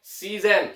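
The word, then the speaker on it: 自然: Pertama adalah si ya, di sini itu adalah shizen dake ya. Jadi biasanya itu shizen itu udah pasti si ya.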